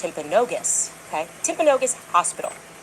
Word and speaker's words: Timpanogos: I'm told actually it's pronounced Timpanogos, okay?